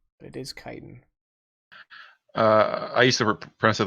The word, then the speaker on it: chitin: my youth but I didn't know how to pronounce things I always say chitin it is chitin I used to repress it that way up